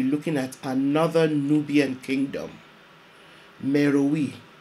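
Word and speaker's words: Meroë: at another Nubian Kingdom merui also sometimes pronounced Mero Napata the capital city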